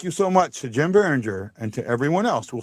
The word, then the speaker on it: Biringer: And I want to say a big thank you to my buddy, my friend, and my pal, Jim Biringer.